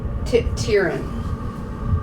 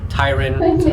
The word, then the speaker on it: Tyrant: Tyran. Tyran. Tyran. Tyran is how I pronounce it, but Tyrant.